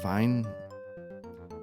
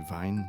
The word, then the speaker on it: Wien: So maybe Wien, Vine. Thought in German when it's EI you pronounce, or IE you pronounce the second letter. So I guess it'd be Vine for Vienna, which I blanked on last time.